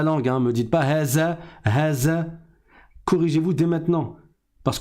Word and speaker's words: هذا: Haza, the, comme le the en anglais.